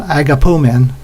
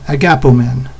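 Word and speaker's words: ἀγαπῶμεν: a gap a gap oh man not agapo men sounds like we're pulling men around on a sled or something agapu men but let's say it right a gapo man a gap bone a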